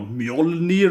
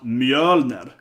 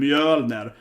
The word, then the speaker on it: Mjölner: It's supposed to pronounce Mjölner. It's a very, very different in Sweden. Mjölner. Because the E is an E and it's an Ö, right? It's an O sound. So it's pronounced Mjölner and not Mjolnir.